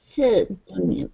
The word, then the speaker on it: pseudonym: Whose pseudonym? I'm not sure what may I pronounce. Pseudonym, pseudonym. pseudonym, no pronounce P. Yeah, no P pronunciation. Pseudonym.